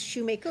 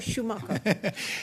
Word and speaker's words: Shoemaker: I'm sorry, is your name pronounced Shoemaker or Schumacher? Don't worry, people within my own organization get it wrong. It's Shoemaker.